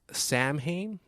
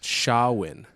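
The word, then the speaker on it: Samhain: where pris right uh it's spelled if when you look at it it's spelled Sam ha oh s i Sam ha but you pronounce it shawin shawin okay yeah and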